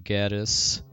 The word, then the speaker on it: Gades: earlier too, just because most people pronounce one of the major villains in the Lufia games as Gades, rhymes with Hades, but I believe the DS remake that has voice acting calls him Gaddis.